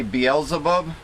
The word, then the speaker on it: Beelzebub: bub you mean are you trying to say beelzebub well it's spelled b-a-a-l-z-e-a-b-u-b so i i will use bottles